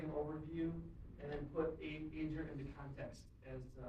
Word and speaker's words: Aegir: Yeah, the first point of contention is how to pronounce the word. Aegir. It's a good question. So there's an Icelandic phonology. Remember all that means? I did talk to a French-speaking person yesterday, and this is probably correctly pronounced something like Aegir. I can't do the French sound. But we tend to say Aegir or Aegir or Aegir or Aegir or whatever you want.